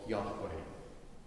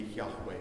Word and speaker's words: Yahweh: and there was a mistaken understanding for a long time that that word spelled jehovah but we've moved on from then and most scholars agree that probably if they could pronounce the word of god it would be yahweh but what it really